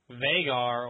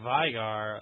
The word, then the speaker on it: Veigar: So, and moving on to the next champ, Veigar or Vigar, the Tiny Master of Evil. Is another one that my girlfriend pronounced a certain way. She said Vigar. I say Veigar, but regardless, tell me what you guys think.